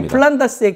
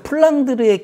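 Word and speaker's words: Flanders: 그러면 안 되는데 하여튼 기억이 난다고 이실 짓고 이 플란다스의 개의 작가는 영국인입니다. 아 원작은 원작은 그래서 영국 사람이 쓴 그 그래서 플랑드르의 개가 아니고 플란다스의 개 영국식 발음이고요.이 이 영국인이 썼던게이 네덜란드인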